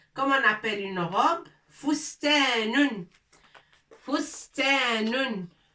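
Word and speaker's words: فُسْتَانٌ: Fustanun. Fustanun. Fa. Sin. Ta. Wa nun. Fous, ta, avec 2 points. Ta, nun. Fustanun. Les lettres sont un peu larges.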